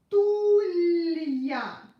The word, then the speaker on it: стулья: Stulya. L-ya. Yep, I pronounced ya like in the alphabet because of the soft sign, because it separates a consonant and a vowel.